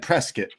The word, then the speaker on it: Prescott: We're going to Prescott. They said Prescuit, but it's spelled like Prescott.